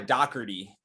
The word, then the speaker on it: Dougherty: last name is pronounced but american it's dougherty i don't know i